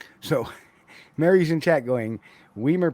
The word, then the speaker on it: Weimer: Well, in actuality, Weimer is a German name, and the just for folks who know anything about German, is that usually the pronunciation of the long vowel on, or the long vowel on something like that, is usually the second vowel. That's why I pronounce it Weimer.